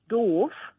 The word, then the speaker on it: doof: is very hilarious because doof written the way it is but pronounced dove is like a word